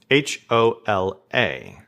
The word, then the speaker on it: hola: would this be pronounced h-o-l-a so remember that that h is always silent so this is simply hola m-e-j-o-r remember that the